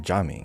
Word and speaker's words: Gaming: was hearing their pronunciation, it sounded like they were calling him Jaming. Oh, Jaming, right, that's right. They J- said Jaming, and I was like wondering why they localized it with a G, but it is what it is.